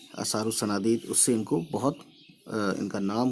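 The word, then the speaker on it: آثار الصنادید: अलिफ और लाम साइलेंट कर देना है। तो असारुस सनादीद पढ़ेंगे, ठीक है।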